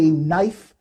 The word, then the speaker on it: knife: No, that doesn't work because you're try to use English to explain this, say knife and knife. So if you spell, the K and the N is silent, so that's why you'd look illiterate if that's the case.